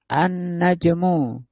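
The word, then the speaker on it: النجم: Contohnya ini najmun annajmu al-nya enggak bunyi dimasukkan ke huruf nun ini.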